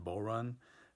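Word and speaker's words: bodhrán: For instance, I have an interview on tonight's episode with Stevie Mateer, who plays the bull run, which is not pronounced the way that it's spelled.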